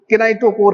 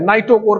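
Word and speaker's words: kinetochore: केनाइटोकोर, नीटोकोर, KINECHOR, केनाइटोकोर, CORE, केनाइटोकोर। के इसमें silent है, नाइटोकोर कहीं कहीं कहते हैं, कहीं कहीं कोई प्रोनाउंसिएशन में केनाइटोकोर कहते हैं।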